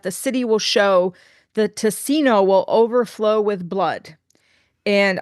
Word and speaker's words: Ticino: city will show, the Ticino will overflow with blood." And I don't know if I'm pronouncing that incorrectly. In Italian, it would be Ticino, but Ticino, t i c i n o, the southernmost area of